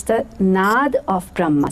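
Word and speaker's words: नाद: And in the parentheses it said N-A-D-A, which I pronounced in my head Nada, which actually is supposed to be Nad. Nad means sound in Sanskrit language, but I read it Nada.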